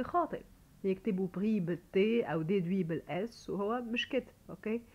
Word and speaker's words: déduit: نشوف كمان حاله pris ou déduit, ce sont des participes passés, d'accord. alors des participes passés, là bien sûr on prononce ni S ni T, on les entend pas non plus.